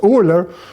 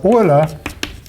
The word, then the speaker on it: Euler: you know, and Leonhard Euler. Yeah, not Euler, Euler. In English you say like that. That's the German pronunciation. Well, that's the German pronunciation, of course.